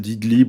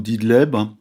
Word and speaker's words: Idlib: Il reste une poche qui est celle d'Idlib ou d'Idleb, ça dépend comment on le prononce, au nord-ouest du pays,